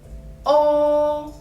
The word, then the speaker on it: o: It's close to the sound of law in English.